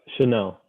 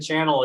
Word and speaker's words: Chanel: these other pronunciations and i just stopped saying channel a year ago and say chanel now you know so it's